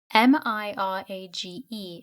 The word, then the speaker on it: mirage: give it up he added Mirage and marriage m-i-r-a-g-e it's pronounced Mirage said valency shortly picking up her